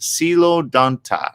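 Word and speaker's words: Coelodonta: or known as a hollow tooth that's right pronounced silo danta uh got it plains of northern eurasia historical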